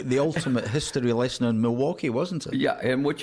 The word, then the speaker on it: Milwaukee: got it on tape how do you pronounce Milwaukee it's merelywaki and it is Algonquin for the good lab I love the